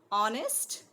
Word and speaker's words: honest: man and old right before words beginning with the silent h honest remember then the the